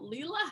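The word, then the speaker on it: Lela: quick tell us about leela house and what is all going on with lila house so in my head i pronounce it layla house layla house thank you for correcting me no problem i don't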